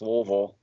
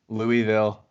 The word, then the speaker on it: Louisville: Think about all the people that try to pronounce Louisville. Oh, yeah. Louisville. Louisville. Louisville.